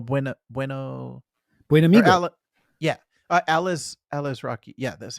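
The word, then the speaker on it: Alazraqui: yeah, Alice Rocky.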